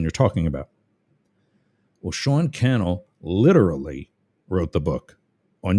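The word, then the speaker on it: Cannell: A guy named Sean Kel rhymes with channel.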